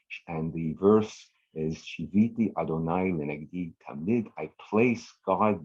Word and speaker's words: Adonai: So Yud, Hey, Vav, Hey, the 4-letter tetragrammaton, not recited. We pronounce it Adonai.